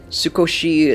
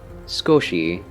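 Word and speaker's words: すこし: Tsukoshi dake hanasemasu. I speak a little. Oh, I see. Skoshi dake hanasemasu.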